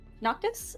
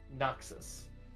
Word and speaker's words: Noxus: She's just gonna try and tell Noctis. Is that how to pronounce her name? Noxus. Noxus, thank you.